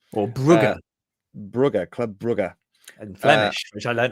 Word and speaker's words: Club Brugge: Club Brugge. And Flemish, which I learnt off the TIFO podcast. John McKenzie told me. Is that how it's pronounced? If you're speaking in Flemish, apparently.